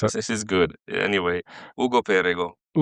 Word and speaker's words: Ugo Perego: Actually, you should say your name because I don't want to mispronounce it. This is good. Anyway, Ugo Pergo. Ugo Perego.